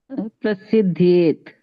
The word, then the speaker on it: prasidhyet: Already they have said one is jyāyaḥ and then is prasidhyet. Prasidhyed. Prasidhyet. Not prasidh. There is no double T there. Double D. Prasidhyed. Prasidhyet. Yeah. It's not that prasidh as in famous, right?